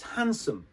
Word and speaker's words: handsome: We don't pronounce the D. So it's handsome. That person is very handsome. And the sum is shortened to a sum. So it's handsome, shortened, okay?